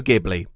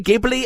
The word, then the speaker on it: Ghibli: My quest led me to a giant I had long ignored, Studio Ghibli. Or Studio Ghibli. Look, no one seems to agree on how to say this, so let's just say Ghibli, and if you want